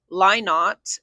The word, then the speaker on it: Lynott: It's pronounced Lynott, he says, because he does not lie.